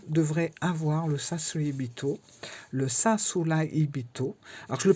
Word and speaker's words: Sasuraibito: avoir le sasibito le sasulbito alors je le prononce comme ça parce que on prononce pas les r dans ce mot là on prononce pas le r le r devient un L donc voilà et on